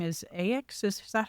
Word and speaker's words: Aix: So the genus name is Aex. Is is that how you say it John? A I would never correct anybody. It's AIX is is all it is and